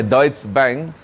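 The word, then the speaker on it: Deutsche Bank: juga ketika deuts bank tertulisnya deut bank tapi dibacanya deuts bank hampir collaps Dan Hampir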